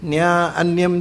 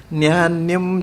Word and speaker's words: ನ್ಯಾನ್ಯಂ: ಹಾಗೆ ಇಲ್ಲಿ ನ್ಯಾ ಅನ್ಯಂ ಚಿಕ್ಯು ಅಂತ ಹೇಳ್ತಾರೆ. ನ್ಯಾ ಅನ್ಯಂ ಚಿಕ್ಯು ಅಲ್ಲ, ನ್ಯಾನ್ಯಂ ಚಿಕ್ಯುರ್ ನನು ಚಿಕ್ಕಿರನ್ಯಂ. ನ್ಯಾನ್ಯಂ ಒಟ್ಟಿಗೆ ಹೇಳಬೇಕು ಅದನ್ನು, ನ್ಯಾ ಅನ್ಯಂ ಅಂತ ಹೇಳಬಾರ್ದು.